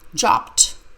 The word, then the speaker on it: dropped: the best of chop chopped the e d sounds like tea Grandma dropped the plate